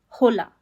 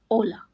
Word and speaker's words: hola: It's important to note that H in Spanish is always silent. No exceptions. So, we don't say hola. It's just hola.